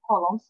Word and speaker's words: column: classify them into two columns. راح نقسم الصور المعروضة في البوستر إلى نوعين. Column A include column A, العمود A, طبعا هون الـ N silent, column, ما ننطق الـ N silent.